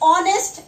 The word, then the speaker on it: honest: We don't pronounce H. We pronounce from O. That is honest and hour.